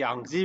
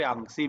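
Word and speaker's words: Yangtze: ठीक है, तो प्रोनाउंसिएशन आप जैसे भी चाहे ऐसे कर सकते हैं, यांगजी भी कर सकते हैं और यांगसी भी कर सकते हैं।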